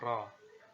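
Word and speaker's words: رَ: bentuknya seperti ini Ya dengan Fatah berarti bacanya roh huruf ro Ini diucapkan dengan menyentuhkan punggung lidah dengan langit-langit Ya Roh seperti itu Nah huruf ro ini kalau di dalam bahasa Indonesia itu Er dan Oh seperti itu ya kalau di dalam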